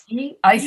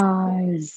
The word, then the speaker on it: eyes: two eyes eyes yes if you're going to put it at the end of the word there it has to have a voice to it otherwise you're going to be saying ice you're going to be saying we all have two ice right so it's not we all have two ice it's all we all have